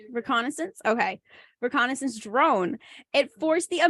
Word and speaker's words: reconnaissance: Did I pronounce that correctly? Yeah, reconnaissance.